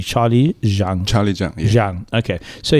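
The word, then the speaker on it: Zhang: Oldfield prepared for me um please help me pronounce this z h n g Charlie Jang Charlie Jang Jang okay so he is the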